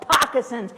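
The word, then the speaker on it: pocosin: where I live and they're called pacin and they're great big circles that rhyme with moccasins and I know cuz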